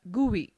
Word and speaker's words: GUI: is a graphical user interface gui pronounced as gui between a computer and